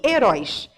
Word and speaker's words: herói: Herói é uma oxítona.